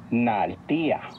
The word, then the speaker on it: Naltía: Recuerda que en el náhuatl las palabras se acentúan en la penúltima sílaba. Naltía.